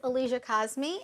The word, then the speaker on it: Aliyah Kazmi: guests now I don't want to say your name wrong so could you please let her audience know who you are short Alicia cause me and Alicia means like the highest place in